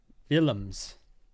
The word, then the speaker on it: Willems: It says, sounds like villains with a soft V as in village, but it's a W.